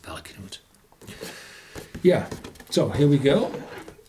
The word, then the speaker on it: Valknut: I think it's pronounced Valknut. Knut is a Nordic name, and Valkyrie, Valknut, it should be pronounced Valknut.